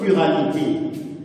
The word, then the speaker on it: chiralité: On écrit chiralité, mais on prononce chiralité. Pourquoi on prononce la chiralité? C'est que ça vient de Caire. Caire, n'est-ce pas, qui est égal à main.